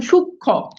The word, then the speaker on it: সূক্ষ্ম: এখন আমরা এই জিনিসটাই পড়ছি যে যুক্ত ব্যঞ্জনের সাথে মফালা যুক্ত হলে সেটার কোনো উচ্চারণ হয় না। যেমন দেখেন সূক্ষ্ম, মফালা কিন্তু নাই।